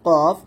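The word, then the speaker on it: ق: তারপর হচ্ছে কাফ এবং কফ। কফ মোটা এবং কাফ হবে চিকন। কফটা এরকম হবে কফ, আর কাফটা পাতলা হবে কাফ এরকম।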